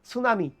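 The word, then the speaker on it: tsunami: যেমন সুনামি, আমরা বলি সুনামি, কিন্তু ভাই উচ্চারণ স্পেলিংটা কি?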